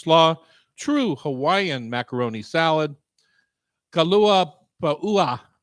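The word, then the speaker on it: kalua pua'a: Mango cabbage slaw, true Hawaiian macaroni salad, kalua pa'ua. You have to pronounce all the vowels.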